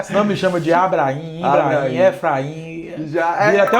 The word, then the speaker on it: Ibrahim: Não, Ibrahim. Às vezes eu falo Ibrahim, mas é só pra pessoa entender que tem um H ali depois do A. Senão me chama de Abrahim, Ibrahim, Efraim.